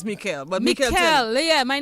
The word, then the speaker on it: Michele: they write it and it's pronounced in Italian it's pronounced Mel Mikel okay pronounce your name